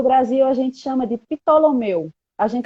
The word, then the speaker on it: Ptolomeu: no Brasil a gente chama de Ptolomeu. A gente É pronuncia o exatamente P.